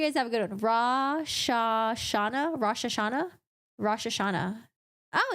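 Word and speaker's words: Rosh Hashanah: I hope you guys have a good one rashash Shana rashash Shana rashash Shana oh is that how you pronounce it rashash Shana okay good to know thank you all right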